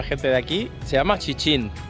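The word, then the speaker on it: 旗津: Por cierto, acabo de hablar con una gente de aquí, se llama Chichín. No Sijín, como os he dicho yo, se pronuncia Chichinchin, como chinchín. Y aquí detrás mío, que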